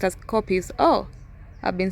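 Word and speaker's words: kopjes: life on Earth ecologically important to these copious pronounced as copies of I've been saying COPD it's copies are an attractive feature of the Serengeti landscape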